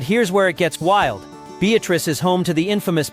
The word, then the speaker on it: Beatrice: Beatatric, Nebraska, and yes, it's pronounced Beatatric, not Beatrice, unless you want side eye from the librarian, has been famous for its modern-day homestead act for years.